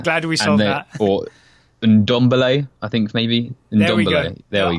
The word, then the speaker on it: Ndombele: ballet first of all how confident are you that we should be pronouncing that n I I think it's like a soft ok dabeli yes you kind of half swallow it's an underbelly ok I'm glad we